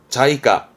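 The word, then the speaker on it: 財貨: 발음은 자이까.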